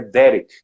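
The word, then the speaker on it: דרך: Por último, Jesus diz que ele é o caminho, e a palavra caminho em hebraico é Derek.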